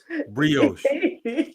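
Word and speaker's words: brioche: Not bros. Say it right. That's what I said. How do you say it? Brios.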